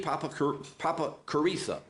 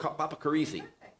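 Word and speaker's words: Papacharissi: Mainly because I want to see if I can still pronounce her name. Zizi Papacarisa. Is that close? Papacarisi.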